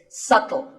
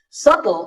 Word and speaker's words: subtle: It's subtle. The B is silent. Subtle means something that is difficult to notice or something that isn't obvious.